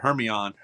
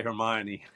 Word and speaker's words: Hermione: to her class and she pronounced it Herion. My daughter comes home and goes, "Oh man, my teacher has no idea how to say Hermione."